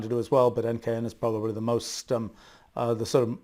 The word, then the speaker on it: NKN: There's this blockchain called NKN that is NKN, needless to say, sort of rhymes with NKS, my new kind of